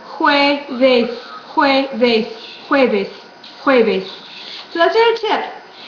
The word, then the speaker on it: jueves: First of all, this J is pronounced like in English, H, ho. And so then you're going to go, always when you see a word in Spanish, go to the vowels first. How does this vowel sound in Espanol? It's pronounced with an U. How is this vowel sounded? It's pronounced como E. This vowel is pronounced A. You put it all together.